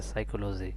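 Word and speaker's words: psychology: পি এর উচ্চারণ দেখো পি এর উচ্চারণটা এখানে সাইলেন্ট থেকে এখানে এসও সিএসজি সাইকোলজি অর্থাৎ পির উচ্চারণটা এখানে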